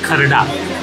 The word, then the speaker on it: kharda: One is mutton kharda. But Shailesh will give us the right pronunciation. It's called kharda. Mutton kharda. Kharda, right?